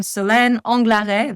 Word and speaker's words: Anglaret: Yes, I'm Senlare. That's how you pronounce my last name.